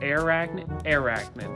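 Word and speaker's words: Airachnid: For Transformers Prime, I have Shockwave and Arachnid, or Arachnid, that's how you say it.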